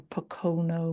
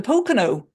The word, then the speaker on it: Pocono: well absolutely Christina blessings brothers and sisters from Pono mountains have I pronounced that right Pennsylvania the Pocono yes I remember that my from my time